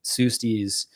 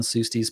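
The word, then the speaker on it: Pseustes: digging into the old literature on these things, Sustes is a better name to go by, and that's spelled P-S-E-U-S-T-E-S.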